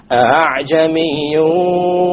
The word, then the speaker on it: أَعْجَمِيٌّ: وَلَوْ جَعَلْنَاهُ قُرْآنًا أَعْجَمِيًّا لَقَالُوا لَوْلَا فُصِّلَتْ آيَاتُهُ أَعْجَمِيٌّ وَعَرَبِيٌّ. So we have أَعْجَمِي. It is not a pure hamza, and it is not a pure alif. It is in between. This is known as tasheel.